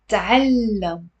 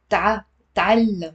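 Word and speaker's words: تعلّم: The next one is تعلم, تعلم. There is a t with a spoon, and then immediately followed with a fatha on the ain. Ta. It's not تعلم, it's تعلم. It's two syllables.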